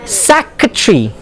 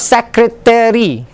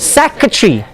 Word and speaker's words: secretary: They add one syllable and it makes it extra. And when the native speakers, they speak to you, they have problems understanding because they only know of the word like that, not like how you pronounce it. It's secretary. It's not secretary. It's secretary. Secretary.